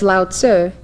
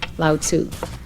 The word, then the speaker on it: Lao Tzu: from Chinese to English the you in sir was meant to be a short u so it's loud sir and not laotsu in Taoism the Dao